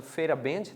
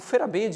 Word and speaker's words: Feyerabend: A gente vai pronunciar aqui, usar a pronúncia Feyerabend, tá?